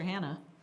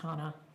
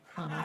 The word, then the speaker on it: Hanna: Hello, this is future Hannah. Oh boy. My name is pronounced Hana. Hana.